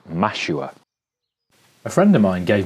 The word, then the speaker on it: mashua: on an unrelated note, rhymes with Nashua, which is a city in southern New Hampshire in the USA. So, if you hadn't guessed, the plant is mashua.